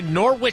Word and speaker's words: Norwich: And Yeah, it's right, Norwich. and now everyone's correcting me correctly. You should correct me. So the W is silent?